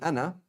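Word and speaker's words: أنا: And so just one thing with ana is written with an alif, but you do not pronounce the alif.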